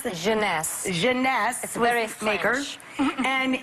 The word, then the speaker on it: Jeunesse: called instantly 8 ageless what's the company honey pronounce the Jeunesse genese sweareth baker and it's less than $75 retail